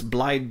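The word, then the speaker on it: Blaidd Drwg: has is called blide I might pronounce this wrong it's Welsh but it's blide duug which from Welsh translates to Bad Wolf which is we've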